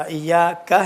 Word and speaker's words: إياك: ایاکا جیسا آغا نے پڑھا، ایاکا ہے، ایاکا نعبدو، الف جیسا نکلا، الف نہیں ہے پورا.